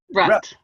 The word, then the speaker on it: Rutt: Do you pronounce it Rutt or? Rutt. So as in stuck in a rut.